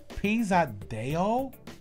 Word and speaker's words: Pesadão: aiza and it's pronounced the song is pronounced pisado which is p-e-s-a-d-a-o and isa she's from